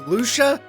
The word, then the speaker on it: Lucia: right to know Lucia it took the entire game for us to find out that it's pronounced Lucia really uh and I'm